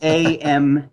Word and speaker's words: Ampernand: And my personal Twitter is at Ampernand. You're gonna have to spell that one, brother. I know. It's AMPERNAND. Okay. It's like ampersand, but with N.